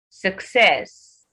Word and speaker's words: success: not develop it develop success success success is stressed on its secondary level not the first syllable so you meant